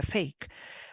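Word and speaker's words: PHEIC: una I y una C, pero eso se pronuncia fake o fake.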